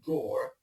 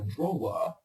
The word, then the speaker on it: drawer: might want to add the final R at the end of the word, so this would be something like drawer. The thing is that if you look at the spelling of this word, you pronounce it as if the final two letters don't actually exist. So it's draw.